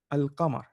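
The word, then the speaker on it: القمر: Okay, so if you're saying al Masjid, then it's going to be al Qamar, right? Because in the Qamar you're pronouncing the alif lam.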